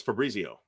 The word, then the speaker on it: Fabrizio: Fabrizio. I just mispronounced your name. I realize that, but that's okay. No, you didn't. You said it right. No, it's Fabrizio.